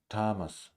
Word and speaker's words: Thomas: unvoiced let's repeat if you a few times Thomas Thomas Thompson Thompson Tom Thompson Thomas Thomas Thompson